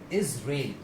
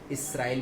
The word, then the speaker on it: Israel: किया हुआ है और इसका सही प्रोनाउंसिएशन होगा इजराइल. और इस पोर्शन को हमें यहाँ पर स्ट्रेस देके बोलना होगा इजराइल. ओके. अक्सर इसको लोग गलत प्रोनाउंस करते हैं और वो इसको प्रोनाउंस करते हैं इजराइल. कई बार इसराइल भी बोल देते हैं जो कि दोनों ही पूरी तरीके से गलत है.